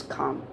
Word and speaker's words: calm: calm only right so the correct pronunciation is calm now the next word